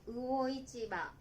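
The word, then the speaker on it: 魚市場: được gọi là "魚いちば," được đọc là "uo ichiba."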